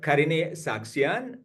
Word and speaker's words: Karine Sargsyan: Karine Sargsyan. She's very particular about me pronouncing her name. So it is Dr. Karine Sargsyan.